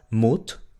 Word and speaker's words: moed: La combinación OE se pronuncia exactamente igual a la U del español. U, U, U. ¿Ok? Como en las palabras moed, boek o goed.